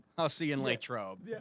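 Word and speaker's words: Latrobe: I'll see you in Lake Trobe. Yeah, sounds good. That's how the locals say it.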